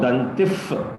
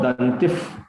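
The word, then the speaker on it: दन्तिः: Om Ekadantaya Vidmahe Vakratundaya Dhimahi Tanno Dantif Prachodayat. The Visarga will produce one F sound. Tanno Dantif Prachodayat.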